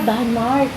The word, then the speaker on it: Danmark: Ah Danmark. Ang pronunciation nila yan.